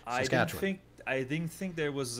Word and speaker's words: Saskatchewan: For example, I learned when I went to Saskatchewan that it's Saskatchewan. It's not Saskatchewan. Saskatchewan. You kind of it's imagine that A is like a little Y or an I. Saskatchewan.